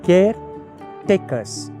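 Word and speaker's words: Caretacres: manages many more estates we started a company called care takers although it is spelled caret acres managing many acres it's the caretakers look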